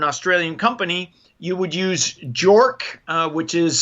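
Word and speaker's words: JORC: Australia or an Australian company you would use jork uh which is spelled j o r c those are their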